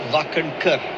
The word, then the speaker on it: Wakankar: Yeah, Wakankar. It's Wakankar. Wakankar. Kar, not Kar. That's the only difference.